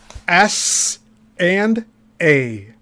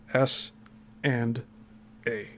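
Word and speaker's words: Essanay: SNA being the phonetic pronunciation of the first letters of the last names of Spore and Anderson. SNA S and A. SN A. E S S A N A Y. S and A.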